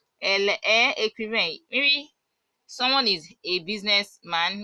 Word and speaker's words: écrivain: Okay, like maybe she's a writer or she's an author, you say elle est écrivain. You won't pronounce the last letter. Elle est écrivain.